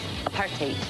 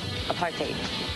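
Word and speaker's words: apartheid: Just think of a part like being a part and hate. Apartate. Apartate.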